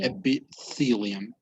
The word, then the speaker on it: epithelium: i got it epithelium notice pronunciation when you have a t and an h together it's like you put your tongue between your teeth so it's it's epithelium epithelium okay it's it's not